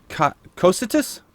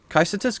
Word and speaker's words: Cocytus: Let's take a look at the other Omolon scout rifle, the COCYTUS? COCYTUS. I was corrected on that recently, and I believe that is the proper pronunciation. COCYTUS?